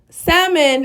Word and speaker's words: salmon: And you want to season this good because salmon is such, I don't know why I keep pronouncing the L. Salmon is such a lean piece of fish that you want to season it good.